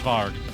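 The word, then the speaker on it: Warg: uh Wolf Monster it's spelled Ward but it's pronounced varg because uh you know it's like uh sort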